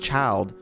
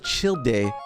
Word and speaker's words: Childe: what you guys told me that's how it's pronounced child that's a child i thought it was chill day it's pronounced child so we're going to react